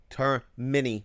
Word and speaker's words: Termini: demon hooking you up it's spelled ter M like mini turn mini Brothers right so you